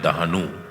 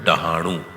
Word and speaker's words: डहाणू: मुंबई से कोई 150 किलोमीटर आगे है दहानू, या जिसका हम सही से उच्चारण करें तो वो है डहाणू।